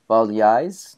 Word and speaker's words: Balleis: Okay, well, we've been talking about the release from captivity of Father Prem Kumar, speaking with Father Balleis.